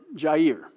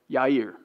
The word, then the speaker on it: Jair: He's the one we're going to cover, and then we're going to cover Jair, or Yair, how they pronounce it.